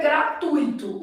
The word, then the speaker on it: gratuito: palavra tipo essa ó o certo é gratuito O problema que pessas que vão falar gratuito aí fala errado divide errado né gratuito aqui a gente